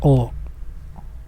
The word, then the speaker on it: を: Contohnya, shiriaru, partikel ini ditulis dengan o, tetapi dibacanya o.